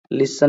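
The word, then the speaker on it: listen: इज डी यहां पर सब में टी लेटर साइलेंट है लिसन में भी विसल में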